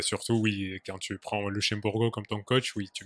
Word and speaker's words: Luxemburgo: Ah non, non, non, pas tout à fait, parce que déjà je ne sais pas pourquoi tu ne le prononces pas à le portugais comme il faut. C'est Luxemburgo Merci.